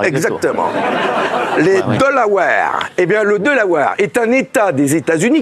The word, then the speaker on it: Delaware: Delaware. Ça marche. C'est comme les Tupperware. Vous inquiétez pas. Delaware. C'est comme Tupperware, mais avec le dollar. Exactement. Delaware. Eh bien, le Delaware est un État des États-Unis.